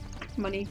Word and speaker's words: Mooney: Money, whatever. It has a fucking U in it! Yeah, but it's supposed to be pronounced money because it sounds like the actual word money. You know?